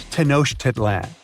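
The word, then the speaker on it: Tenochtitlan: It's Tenoshedlan. And Mayan cities are hard to pronounce too.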